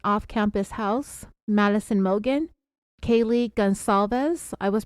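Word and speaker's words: Gonçalves: case back in January it's with a soft C in the middle of her last name and I was saying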